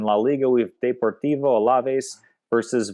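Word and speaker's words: Alavés: And it's Deportivo Alaves. Alaves. Oh, a little bit of that nice lisp at the end there.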